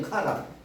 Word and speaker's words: 하란: 요게 하가 달라요. 여기서는 지명 하란은 여기 숨구멍이 없어. 여기 붙어 있어. 하란. 그래서 하란이 아니라 카란이에요. 카란.